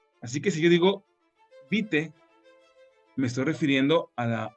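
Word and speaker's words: vitae: fonética no es vital se pronuncia como si fuera una e nada más se pronuncia vite Así que la forma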